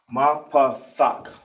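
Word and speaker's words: מפתח: This is how you pronounce it out. Ki is ma. Then you got pa. Then you got thak.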